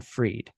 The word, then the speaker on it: Fried: his name is Jason Frerieded. It's spelled like fried, but he says it freed.